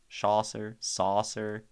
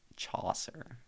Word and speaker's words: Chaucer: Saucer, William Chaucer.